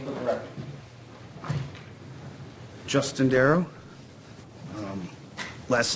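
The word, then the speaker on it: Darrow: spell your full name for the record Justin darl um last name darl d a r r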